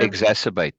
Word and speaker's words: exacerbate: our love for them can what is the pronunciation for that exate no exate exacerbate yeah exacerbate exate excuse me thus we with